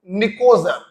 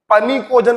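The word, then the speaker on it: pnictogen: और भी होता है निकोजन कभी-कभी कुछ लोग इसको पनी कोजन पढ़ते हैं भैया अंग्रेजी है प साइलेंट होता है निकोजन पढ़ते क्यों कहते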